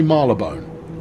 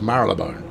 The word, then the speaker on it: Marylebone: but coming up on marylebone yes that's how it's pronounced some people say marla bone they're wrong it's marilyn bone right and uh and